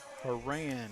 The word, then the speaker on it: Haran: Haran is how they pronounce that.